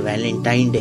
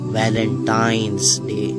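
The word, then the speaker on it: Valentine's Day: नाम पर गौर करें इसे जो आम कहा जाता है यह वैलेंटाइन डे है लेकिन हकीकत में जो इसका प्रोनाउंस एशन है वह है वैलेंटाइंस डे यह एक वैलेंटाइन वाला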